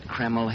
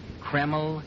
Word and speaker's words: Kreml: And men, I'm right here to tell you I wouldn't use anything else but Kreml hair tonic.